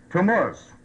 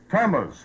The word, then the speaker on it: Tammuz: Can anyone pronounce that for me? Tammuz. Tammuz.